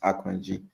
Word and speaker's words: Akanji: So it's a Euroba Nigerian name and that's actually how it's pronounced Akanji. So yeah um so Akanji is 30 years of age has had injuries in the last 12 months.